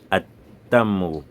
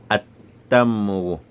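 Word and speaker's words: التمر: On va dire at-tamru. On ne prononce plus le l'amoun. Voilà un peu comment ça se passe. On va dire at-tamru.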